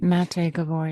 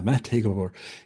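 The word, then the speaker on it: Maté Gábor: Gabbor Matt Mate Mate Gabbor. Yes. Yeah. Mate Gavore.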